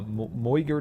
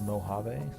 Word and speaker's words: Mojave: However, it's well known that the best archers come from the uh Moyer Desert. Uh, I believe you're supposed to pronounce that Mojave.